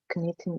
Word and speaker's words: knitting: of paper, or maybe knitting a little bit sometimes. Knitting, K is not pronounced.